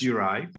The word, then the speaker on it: Juraj: It's actually pronounced Uri, like Uri.